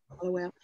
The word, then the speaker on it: Hallowell: And our special guest today is Miss Ashley, and it is Hallowell, right? I hope I'm pronouncing it right. Yeah. Hallowell.